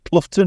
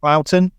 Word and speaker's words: Cloughton: charming village of Cloughton, which everybody mispronounces Cloughton or Cluton or something, but it's Cloughton, by the side of the road, causing traffic jams.